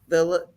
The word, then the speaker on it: Vilches: But anyway, I thought I would bring on Maria Vilches. Vilches. Yep. Vilches. Vilches, just make sure I pronounce that name correctly.